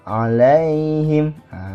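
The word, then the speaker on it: عليهم: bacaannya dan Mad layyin cara bacanya lunak saja seperti ini oleng him alaihim gitu teman-teman betul bacanya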